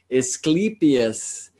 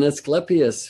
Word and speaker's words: Asclepius: teacher who helped me know that the true pronunciation is Clytemnestra. And so hopefully I will clean that up. I also learned Asclepius rather than Asclepius for the great medicine man, the student of Chiron.